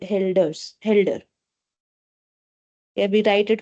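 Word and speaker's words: Hölder: So we have two dots over O. So it is called helders.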